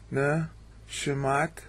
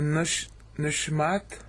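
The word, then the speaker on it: נשמת: It's the little double dots over what looks like a W there, that's a sheen. That means you hurry up to get to the next syllable. It's called a shua. Sometimes it's silent, but you still hurry up.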